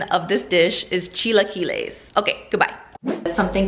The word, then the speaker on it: chilaquiles: come for me because i'm dumb the proper pronunciation of this dish is chilaquiles okay goodbye something called chiquiles they will typically